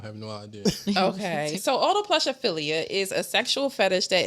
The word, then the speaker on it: autoplushophilia: It's called autoplushophilia. It's spelled The fact no that you AUTOPLUSHOPHILIA. So Autoplushophilia. So auto. No, like audio like Auto like a automobile.